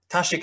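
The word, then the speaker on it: 大食: Persian would be tazik tashik is is it's the old Chinese pronunciation of Dashi Dashi in modern Chinese in in this in the Tang Chinese pronunciation was tashik which is again so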